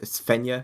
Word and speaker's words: Fenya: kaiser and then uh it's fenya menya that's how you say it okay kaiser and then